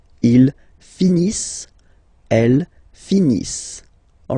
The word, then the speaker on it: finissent: So remember, as usual, when we've got the verbs and t not pronounced. Ils finissent.